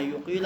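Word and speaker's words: يقيله: فَأَبَىٰ أَن يَقْبَلَهُ، اب دیکھو اس میں یہ لفظ دو تلفظ میں آیا ہے، بعض عبارات میں یقیلہ آیا ہے، بعض میں یقبلہ آیا ہے، ٹھیک ہے، دونوں درست ہیں۔ یقیلہ آیا تو اقالہ کسی کہتے ہیں؟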